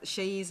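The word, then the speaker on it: Seyi: I'm really sorry about that, but Sheyi's name is spelled S-E-Y-I, and.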